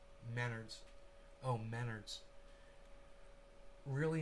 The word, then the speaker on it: Menards: donald trump and john maynard i work at maynards trump and maynard used to sue each other just google those dudes together and it's pronounced menards oh menards really not important though yeah it's